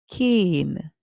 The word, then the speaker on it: cane: The e at the end is silent, so the vowel would say its name. We hear k, in, cane.